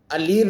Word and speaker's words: aller: इसका उदाहरण है, अलीर नहीं होता है, आर नहीं बोला जाएगा। ALLER, इसका उच्चारण होता है अली। अली का मतलब होता है जाना, गौ। ALLER, अली उच्चारण है इसका, आर नहीं बोला जाएगा।